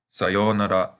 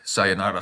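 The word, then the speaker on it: さようなら: Here's another word whose pronunciation changes in English. In Japanese, this is sayonara, but people usually say something like sayonara saka in English.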